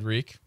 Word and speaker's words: Reek: Are you dead, Reek? Rhymes with meek.